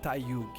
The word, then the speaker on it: Tayug: You can pronounce however you are comfortable, but for me, it's more like Tayug. Tayug. Okay. Sorry, I'm from Texas, and it's Tayug. It's one of those Brazilian indigenous names, Guarani.